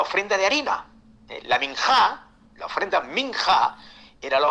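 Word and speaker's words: minjah: aparece que es la palabra minhat eh minat se escribe de la siguiente yo lo letreo para que ustedes puedan escribirlo ahí m i n j a H minja eh Y esa era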